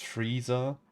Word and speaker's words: Frieza: sharing that with us it's pronounced Frieza it's Japanese okay so we are